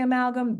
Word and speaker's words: amalgam: good and um Diane what was the second syllable ma good and the third syllable uh Sabrina gum right okay and